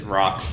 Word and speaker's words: Roq: his name is oh it's just it's rock but it's spelled roq equivalent it's rock okay okay rock's a